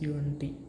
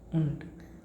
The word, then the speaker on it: und: UNT. Then its pronunciation becomes UNT. Und.